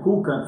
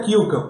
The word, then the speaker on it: Kulkamp: Eu estou aqui do lado com meu amigo Guilherme Kukan. Falei certo o sobrenome? Certo, certo. A Guilherme pronúncia é Kilkamp, mas todo mundo. Kukan. É, Então Kilkamp.